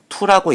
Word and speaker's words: too: 예를 들어 TOO라는 단어는 T는 티귿으로 O와 O 두 개, 더블 O는 우로 유추할 수 있습니다. TOO는 투라고 읽습니다.